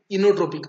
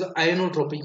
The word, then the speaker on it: inotropic: Okay, so contractility is directly related to inotropic, or you can pronounce it as ionotropic or inotropic.